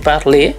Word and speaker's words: parler: Lalu ada kata lain seperti "parlé," yang ditulis sebagai "parler" tetapi dibaca sebagai "parlé."